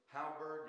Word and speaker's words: halberd: Halberd.